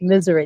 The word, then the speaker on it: Missouri: So that's the way I say the whole SNS contracting said it's pronounced misery. That's what my grandpa always said, misery.